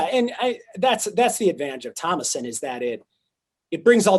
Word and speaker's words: Tomoson: it and spell, because there's like different ways that say Tomoson, but it's Tomoson.